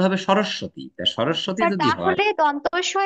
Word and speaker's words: সরস্বতী: হচ্ছে সরস্বতী স্যার উচ্চারণটা সরস্বতী হবে না হ্যাঁ উচ্চারণটা হবে সরস্বতী সরস্বতী হলে দন্তস ব ফলা হবে স্যার কোনটা